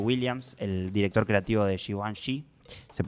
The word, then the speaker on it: Givenchy: Y estoy hablando de Matthew Williams, el director creativo de Givenchy. Se pronuncia así.